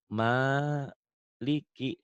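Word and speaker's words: مالك: ya Ini m a ma Liki tuh Maliki sama toh Heeh kenapa ini panjang karena ini ada tanda pemanjangnya tuh Ma Maliki Maliki yau tuh yau sama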